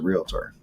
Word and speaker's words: Realtor: yourself out as a realtor, right? Yeah. And how do you say that word? National Association of Realtors. He says it right. That's good. So Realtor. Everybody throws an A in there.